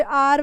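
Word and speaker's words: hour: आई was driving my bike eight 60 kilometre N आर, because ये आर वाला case अभी हम लोग पीछे ही करके आए हैं, इसमें एच साइलेंट होता है तो इसीलिए एन आर लगेगा.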